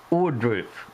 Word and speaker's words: Ohrdruf: I I think it's pronounced Ordruff. Um, we don't want to see all these dead bodies lying around the in the yard.